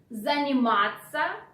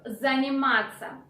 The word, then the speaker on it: заниматься: And moreover, instead of ся, which is the proper way to spell the verb, in spoken language you change ся into ца.